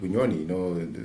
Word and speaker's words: Bunyonyi: I went to a place called Lake Bunyonyi, look for a job, and I landed on a campsite.